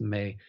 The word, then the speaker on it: me: technology called the me crystal ma oh actually pronounced May it's but it's spelled m-e all our computers